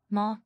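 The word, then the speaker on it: má: How do you say if? Ma. It's not as, it's ma.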